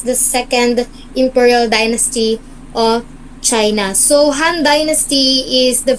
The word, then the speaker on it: Qin: uh please read the romelin Dynasty from which China derives its name is pronounced chin was the first official Empire in